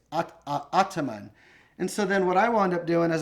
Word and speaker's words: Ataman: rustam from ottoman and the correct pronunciation of our brand name is ataman i hope you enjoyed